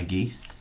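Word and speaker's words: geas: you pronounce it isn't it i think it's pronounced gesh but that's fine i know it is gesh it is gesh there is there is an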